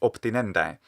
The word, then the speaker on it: obtinendae: it's awkward, in fact, many Romans would write it with a P, the letter P here. It would be obtinendae, and that's how it ought to be pronounced.